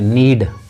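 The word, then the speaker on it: knead: इसमें अ है तो इसको के को साइलेंट रखना है नीड तो जैसे कोई पूछे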